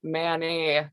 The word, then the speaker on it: Manet: I mean, I did, but how do you say it without making Edward Manet not sound like mayonnaise? I mean, I'm saying MANET''S, which is the same as saying mayonnaise.